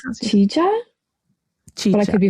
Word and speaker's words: Qijia: Qijia culture site, which comes from the Oh, now, oh, I can never remember the pronunciation of the Q. I think it's Qijia culture in China, which the